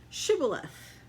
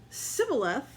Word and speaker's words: shibboleth: they said all right say shibboleth if he said sybil f because he could not pronounce the word correctly they seized him and